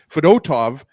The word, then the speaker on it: Fedotov: I think the reason why I'm saying that is because I keep thinking of Ruslan Fedotenko. I don't know about you guys, but that's what I keep thinking of. Former Pittsburgh Penguin, and I think he also played for the Flyers, actually. But Fedotov, there I said it right, was excellent tonight, guys.